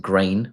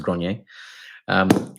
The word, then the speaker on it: Grenier: I know everyone else will probably pronounce it grain or grainy, but I think it's pronounced Grenier.